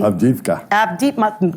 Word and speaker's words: Avdiivka: I probably mispronounced that. Can you correct me? Avdiivka.